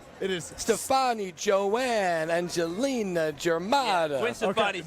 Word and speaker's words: Germanotta: And we're just talking about different emphasis of syllables. So that's Germanotta.